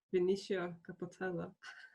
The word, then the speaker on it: Vinicio Capossela: So do you know Vinicio Capossela? I don't know if I'm pronouncing that correctly. It's a non-metal. Vinicio Capossela, sì. Okay, yeah. Okay. Vinicio Capossela.